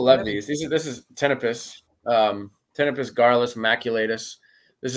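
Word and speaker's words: Ptenopus: say it but it's tpus it starts with a P but the p is silent it's PT n o pus so a lot of people say pipus but it is tpus and this is yeah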